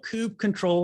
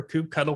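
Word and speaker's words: kubectl: this Cube cuddle or or coup control command or whatever the heck you want to call it as you can see I call it everything because I I like making everybody upset how I pronounce words but how Cube control or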